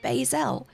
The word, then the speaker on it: Lae'zel: I've discovered that lying on the floor is Lae'zel. There you go. That really does, thank you, birthday person, for, for teaching me how to say it, because that does really help. Lae'zel.